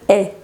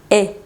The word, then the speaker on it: hais: Es porque la H de aquí no es muda, es aspirada.